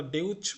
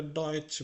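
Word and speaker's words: Deutsch: এই যে যে ইউ, এটা কি আমরা ডেউচ বলছি? আমরা এটা ডয়েচ বলছি। যদি আমরা ডয়েচ বলতে পারি, তখন আমরা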